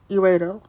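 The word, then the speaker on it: Erato: Her name means lovely or desirable, and it's pronounced eros, or like erotic or eros, but it has like a T, so it's eredo.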